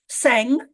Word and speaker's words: Tseng: is it's I'm so excited to introduce Brian sang am I pronouncing that correct I am yeah absolutely you